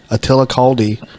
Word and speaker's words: Attila Kaldy: in our Mist I I'm hoping I I pronounce his name right because I always butcher names Attila kaldi from Australia Attila welcome to the club thank